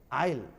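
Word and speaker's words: isle: के बीच, किसके बीच, S जब I और L के बीच आए तो उस आने वाले S को साइलेंट करके बोलना है। जैसे देखिए S आया ना, I और L के बीच में है, इसको आइजल नहीं पढ़ लेंगे, आइल, आइलैंड का ही शॉर्ट फॉर्म आइल है। जो 50 नंबर के एक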